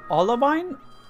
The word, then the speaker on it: Olivine: In the last episode, guys, we did make our way to Olivine? I don't know how to say it. They have weird names, man. Pokemon has weird city names. Olivine. It is Olivine.